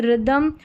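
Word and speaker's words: rhythm: 29 पर है RH, RH को र पढ़ा जा रहा है, जैसे रिदम, और यह राइम, र, यानी H यहाँ पर साइलेंट है, R का उच्चारण है।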